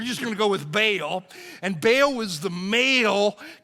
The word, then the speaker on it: Baal: you'll see that and you'll hear somebody pronounce it Baal and uh some people say baale I don't know whether it's ba or baale but I'm pretty sure